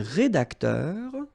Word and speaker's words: rédacteur: Okay, so un rédacteur. All right, remember, accent aigu here, so you will have this E sound.